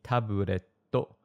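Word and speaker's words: タブレット: When you see two consonants together, like the TT in tabletto, you need to give a little pause before it called a glottal stop. So say it like this, tabletto, not tabletto.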